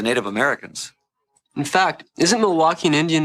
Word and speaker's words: Milwaukee: In fact, isn't Milwaukee an Indian name? Yes, Pete, it is. Actually, it's pronounced Milwaukee, which is Algonquin for the good land.